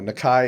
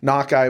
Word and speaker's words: Nakai: I mean you know Nakai is more of a Polynesian Japanese pronunciation but it doesn't bother me knock I would be the correct uh Navajo pronunciation yep um but yeah